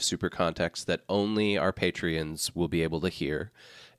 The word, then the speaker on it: Patreon: context that only our patreons will be able to hear and it is we're going to actually it's it's pronounced patreon oh is that right there's a there's an accent Sean yeah um there